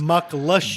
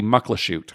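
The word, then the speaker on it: Muckleshoot: right because that's what everybody says macht lush but it's yeah but it should be Mucklow shoot luckless you yeah so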